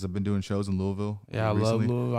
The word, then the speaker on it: Louisville: Louisville. Louisville. You gotta say it like that, because if you say Louis like that's they're gonna be like, oh yeah, he don't know what he's talking about.